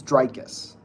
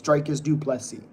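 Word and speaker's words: Dricus Du Plessis: But no offense, but you can't even pronounce It's Drius. I know how to pronounce it. Thank you. It's Drius. I know how to pronounce it. It's Drikus Duplexi.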